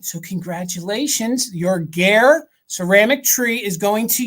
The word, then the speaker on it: Gare: Yes, Gare. because Okay. it rhymes with air.